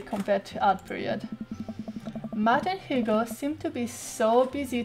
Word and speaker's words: Hugo: yeah matt hugo and correctly say hugo right you pronounce the h so let's see what